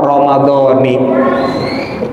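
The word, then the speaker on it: رمضانِ: di thibin begitu juga Bil kasrah Ramadan dibacanya pakai kasrah Ramadani paham paham paham iya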